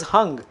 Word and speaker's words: Hung: Now, this is hung.